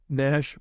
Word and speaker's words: Nashe: of Richard litchfield's however implies that Nash rhymes with Ash well of course it